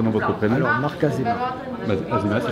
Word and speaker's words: Azéma: Alors, Marc Azéma. Azéma, ça s'écrit.